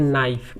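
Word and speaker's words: knife: जैसे देखते हैं KNIEF, बोलते हैं K के बाद N आए लिखते हैं EF, बोलते हैं नाइफ, K को साइलेंट।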